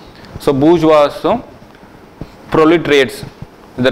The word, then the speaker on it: bourgeois: So we write it as this, but we pronounce as bourgeois. So bourgeoisம் proletariats இந்த 2 பேரும் வந்து capitalist சொசைட்டியில் இருக்காங்கன்னு ஐடென்டிஃபை பண்ணுறாரு.